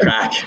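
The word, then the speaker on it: craic: So I can't use an Irish word there, crack. Good job. Which not many people know is spelt in a very Irish way. It's C-R-A-I-C for the record, even if it's pronounced entirely different.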